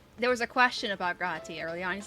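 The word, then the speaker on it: G'raha: back and forth with me saying, no, it's Graha, and here's why, and Mao being like, no, that's impossible.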